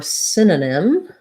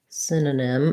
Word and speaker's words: synonym: this as well um so first syllable stress letter y says the if sound sin the letter o here is going to sound like an uh so it sounds like sin uh and then again another